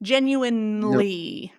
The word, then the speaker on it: genuinely: sincere kind and genu genuinely unique there you go genuinly there you go okay so this e is silent let's start with this